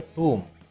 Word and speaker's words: tomb: Taj Mahal is a tomb. The word is pronounced as tomb, not tomb.